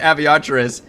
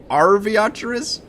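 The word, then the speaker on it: Arveiaturace: I've been saying it Aviatris. It has a fucking R at the start. So I think it's supposed to be Arviatris.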